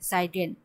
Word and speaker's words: zeigen: এটা কিন্তু গে জয়ের মতো উচ্চারণ হবে না গের মতো উচ্চারণ হবে সাইগেন Gemeinsam gehen wir in das alte Haus.